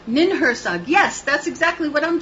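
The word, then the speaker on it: Ninhursag: Nin Hersag, yes, that's exactly what I'm talking about, okay? Yep. See what language does? Right. Getting by the New England accent. Or how you say it. Yes, Nin Hersag, that's right.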